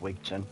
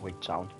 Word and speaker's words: Wigtown: Also, it will 100% be pronounced Wigton, not Wigtown.